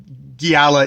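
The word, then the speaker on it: Xiala: name which is uh it is spelled x i a l a which if i've been reading that on the page i probably would have come up with a entirely different uh pronunciation but giala is my best approximation of what my my uh my dumb monolingual uh uh mind took as what the how the narrator was narrating this so that did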